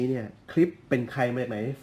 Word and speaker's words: Klipsch: คุ้น ตา กัน ดี คือ คลิป ใช่ แล้ว อ่าน ว่า คลิป นะ ครับ ของ แบรนด์ ดัง